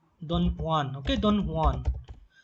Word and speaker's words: Don Juan: And if you talk about like Lord Byron, okay, Lord Byron, he wrote stuff like Don Juan, okay, Don Juan. J is silent here.